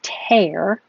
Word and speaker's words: tear: Oh, this one is tear, like the verb tear.